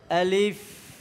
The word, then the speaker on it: আলিফ: আলিফের শুদ্ধ উচ্চারণের নিয়ম হলো, এই উপরের 2টা দাঁত নিচের ঠোঁটের সাথে বাজবে, নিচের ঠোঁটের সাথে বাজবে এবং বাতাস চালু থাকবে, বাতাস বেরোতে থাকবে। এইটা হলো কি আলিফ উচ্চারণের শুদ্ধ নিয়ম।